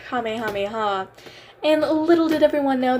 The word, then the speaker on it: Kamehameha: I should say um I've seen people mispronounce saying um Goku's attack entitled Kamehameha um I'll show the clip right here I can ball Mythic in fortnite 10 times stronger so we all know the kamiyamama I'm gonna leave that one